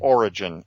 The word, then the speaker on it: Orijen: Origin. It's spelled with a J, Orijen.